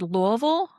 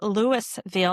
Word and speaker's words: Louisville: I also want to shout out the fact that you said Louisville, which is the correct ter uh correct pronunciation of the city.